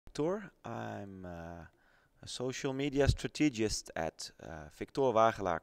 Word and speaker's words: SOCL: it's actually very easy you type in so.cl you pronounce it social and then you can